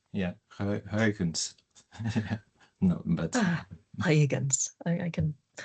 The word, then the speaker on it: Huygens: But no, as far as what Huygens himself had in mind, so I keep pronouncing it with kind of a U sound because, but it's more like a kind of a long A sound. Yeah, Huygens.